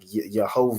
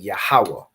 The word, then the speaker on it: Yahawah: to pronounce these letters so you're not saying like yahovah or however you know the oppressor would pronounce it however they pronounce it with their Yiddish you convert it into the ancient Hebrew so you're saying yahawah you recognize these letters yah